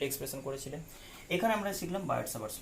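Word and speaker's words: Biot-Savart: এখানে আমরা শিখলাম বার্ড-সাভার্টস ল, বার্ড-সাভার্টস ল, বার্ড-সাভার্টস অনেক বলে, টি সাইলেন্ট বলে, সাভার্টস ল।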